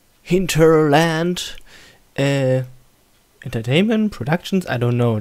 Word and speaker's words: Hinterland: game made by hinterland or pronounce it more like an English word hinterland entertainment productions I don't